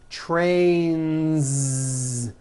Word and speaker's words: trains: two heads very good next word train ends with a voiced n see that so you've got one train or two trains two trains with a voiced Z ending song ends with a